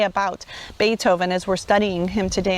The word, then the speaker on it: Beethoven: Let's discuss, what country is he from and why is his name spelled pronounced Beethoven when it looks like Beethoven.